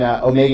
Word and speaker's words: omega: And then omega you can pronounce as just O.